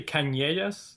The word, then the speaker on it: Canellas: Is that how you pronounce it, by the way? Canellas? Yes, definitely. Okay. I was wondering, are you French or what's that origin? Actually, Canellas, but.